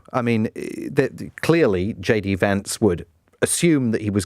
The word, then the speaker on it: Vance: be the Republican candidate would it be JD Vance or and note the pronunciation Vance not Vance as people on the BBC keep saying or